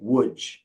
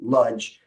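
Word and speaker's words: Łódź: um and in the in the Polish language that is pronounced as a w so poles will say wood like that uh but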